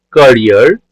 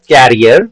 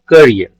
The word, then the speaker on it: career: the consequences of his action in my short career as a thief dear students this is not carrier okay many of us we are saying carrier